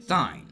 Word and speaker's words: sign: J as in gem, it could also make no sound at all, as in sign.